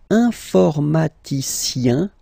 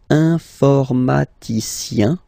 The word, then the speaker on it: informaticien: And the last group is I-E-N, informaticien, yin, yin, yin. So that's the way to pronounce this I-E-N, yin, yin. Okay? Informaticien.